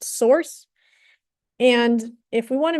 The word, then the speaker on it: src: We've got bin, we've got lib, we've got src, which is pronounced source.